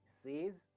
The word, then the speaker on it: says: सेज, right? आप अक्सर ऐसे ही प्रोनाउंस करते हैं सेज, पर ये गलत प्रोनाउंसिएशन है।